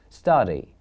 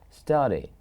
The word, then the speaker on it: study: In this word we have two syllables. Study. 1 and 2. Study. We call this, here we have now two syllables. Now please, the stressed one is here. The first one is stressed here. We don't say study. We say study, which is stressed. One is the first syllable.